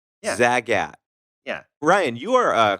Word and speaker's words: Zagat: Yeah, it's just the Zagats.